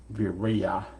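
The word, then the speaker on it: viriya: is the perfection of vireya as it's pronounced in pali which is translated into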